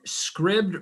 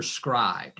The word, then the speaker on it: Scribd: to pronounce it but it's either scribd or scribed it's s-c-r-i-b-d is the